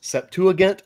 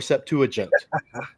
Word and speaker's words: Septuagint: So we, you know, in Koine, we don't have a J sound. So Septuagint can't quite be right. The gamma in Greek is more of a G. So I always pronounce it Septuagint.